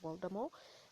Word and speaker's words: Voldemort: evil Lord called Voldemort again for those who pronounce it wrongly it's Voldemort and uh people were terrified of calling him